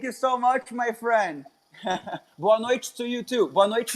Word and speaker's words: Boa noite: You pronounce that Yeah. bonnoit, Boa bonnoit, noite. Boa Boa noite.